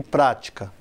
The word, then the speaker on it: prática: E se fosse proparoxítona? Válida e prática. Mesma coisa, bate junto com a tônica no quarto tempo, na virada do compasso.